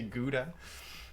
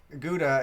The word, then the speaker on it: Gouda: pronounce that yeah because gouda it's nice that that's cheese but it's also it's a cheese because it's from a city in the netherlands you're supposed to say